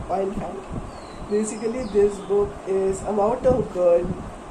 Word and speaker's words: Oliphant: Basically, not elephant, Oliphant.